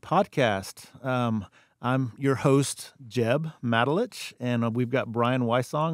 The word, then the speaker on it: Matulich: I think it's the first time I've ever heard you pronounce your last name, so I'm glad to know that. Hey, it's Matulich, M-A-T-U-L-I-C-H.